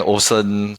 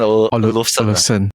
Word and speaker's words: Olufsen: Then after that, at the side there's usually my dream one is actually the Bang & Olufsen, but this above budget lah.